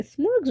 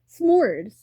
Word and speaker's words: s'mores: what a smorg is and I'm like yeah smorges are she say like a smorg. Am I saying it right? S'mores.